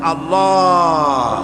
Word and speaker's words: আল্লাহ: আল্লাহ পাকের উচ্চারণটা হচ্ছে আল্লাহ পাকের নামের উচ্চারণ হচ্ছে আল্লাহ মুখটা একটু গোল হয়ে যাবে বলেন আল্লাহ আল্লাহ সুবহানাল্লাহ